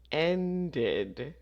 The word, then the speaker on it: ended: number two the film ended so this one we say the Ed because we have a D sound at the end ended at 11:00 p.m.